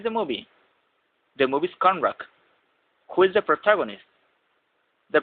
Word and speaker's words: Conrack: His last name is pronounced Conrack.